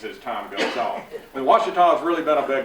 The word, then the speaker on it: Washita: Now, it's Washita. It's not hard once you get started, okay? And folks around the world mispronounce it, so if it takes you a little while, don't worry.